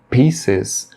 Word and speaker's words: pieces: Na palavra pieces, o P ele é pronunciado com aspiração, ou seja, você tem que pronunciar expelindo um pouco de ar. Por exemplo, pa.